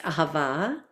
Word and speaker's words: Ahava: silly silly um ahava is in Hebrew is pronounced ahava and it is the Hebrew word for love